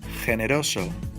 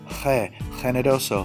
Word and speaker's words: generoso: A GE and a GI. Generoso. Jinete. Notice my pronunciation of the G?